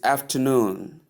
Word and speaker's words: afternoon: Number three is afternoon. Afternoon. Afternoon. You can see how it is pronounced. After and noon combined as a word, you have afternoon. Afternoon. The stress is placed on the last syllable that is the third syllable here which is noon.